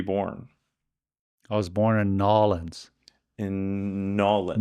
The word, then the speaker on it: New Orleans: Nolens, Louisiana. For all those folks out there that are not familiar with okay, I can say New Orleans. New Orleans. Or New Orleans. Nolens. That's spelled New Orleans.